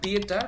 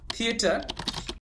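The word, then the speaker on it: theater: THATER, নট দিয়েটার, হবে থিয়েটার।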